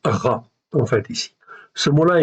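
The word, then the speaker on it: רַע: C'est une voyelle, c'est la voyelle A. Donc ça se prononce Ra en fait ici.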